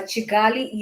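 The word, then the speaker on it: Kigali: city that is the town to them they pronounce it as a chigali is a quite a quite developed even from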